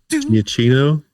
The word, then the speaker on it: Giacchino: I can never remember how to pronounce his last name. The Incredibles guy? Giacchino?